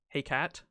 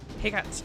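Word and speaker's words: Hecate: up come with me in french it's pronounced the english word heck it hey cat hey cat what the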